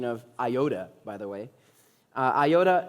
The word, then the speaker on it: iota: an Iota nice job Ari on the pronoun pronunciation of Iota by the way uh Iota not a DOT